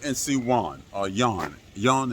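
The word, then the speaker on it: Joan: Yan is how he pronounces his name. He spells it j o a n, and he's not here right now.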